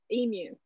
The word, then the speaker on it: emu: It's E. Like E dash mu, emu.